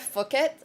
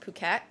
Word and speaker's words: Phuket: Um, so Grace, I was pronouncing it fuket fuk like literally fuket for the longest time and I kept getting corrected and it's pronounced puket and I was like, okay, but why is